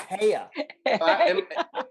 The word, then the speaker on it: Haya: that's what it was her name was Haya in my nose it says H pronounced hey yeah oh yeah either